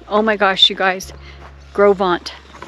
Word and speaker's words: Gros Ventre: my gosh you guys grovant when you look at it it looks like gross Venture but that's how it's pronounced grovant so look at this